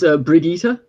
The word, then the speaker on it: Brigitte: It's Brigitte. Not Brigitte. It's the everyone's like when they saw it was like, oh, Sounds Bridget.